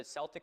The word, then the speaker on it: Celtic: Here in Ireland, except for the initial soft say in sports teams names like the Celtics, Celtic with a hard C or K is the standard.